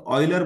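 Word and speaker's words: Euler: Leonard ऑयलर जो हैं, इनका नाम बच्चों जब पढ़ा जाएगा तो ऐसे पढ़ा जाएगा प्रोनाउंसिएशन में जैसे ऑयल को पढ़ते हैं आप लोग, ऑयल पढ़ते हैं ना ऑयल, तो ऑयलर बोलेंगे।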